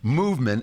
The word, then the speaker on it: MVMT: have them movement although they left out all the vowels for some reason it's mvmt and if we find the vowels we'll put them back but it's pronounced movement and it is movement